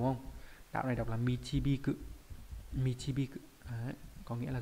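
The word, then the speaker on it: 導く: Đạo này đọc là michibiku.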